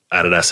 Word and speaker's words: Adidas: I think Adidas have actually, or Adidas as you Americans say, have actually got rid